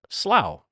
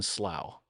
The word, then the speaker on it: Slough: And I believe they pronounce it slow. Um the famous TV show The Office, which originated in a uh British television TV show, uh took place in slow.